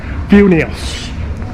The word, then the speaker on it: Vilnius: Vilnius. I now know how to pronounce it properly. I struggled to pronounce it properly yesterday. Vilnius.